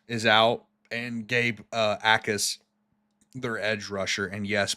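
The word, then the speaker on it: Jacas: out and Gabe uh Ais their edge rusher. And yes, Blake looked it up beforehand. Apparently, you don't pronounce the J.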